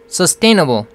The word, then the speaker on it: sustainable: 테인하면서 스트레스가 들어가죠. sustainable.